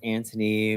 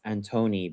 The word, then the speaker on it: Antoni: Or Some of my friends would pronounce it as Antony, but how I grew up, it's Antoni because Antoni is Catalan for Antonio.